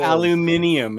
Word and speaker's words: aluminium: out aluminum or i forget what it is aluminium in australia in australia that's what it is